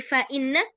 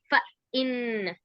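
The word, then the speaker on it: فإنّ: ba ta gitu ya Jadi faainna bukan Fa Inna tapi faainna Heeh disambung ya jangan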